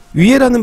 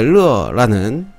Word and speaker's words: 乐: 위에라는 발음도 되지만 클러 할 때 르라는 발음도 나오겠죠.